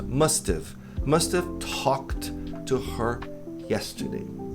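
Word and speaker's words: must've: É só deletar ha e colocar um apóstrofo no lugar. Tem must, essa pronúncia. Mustive.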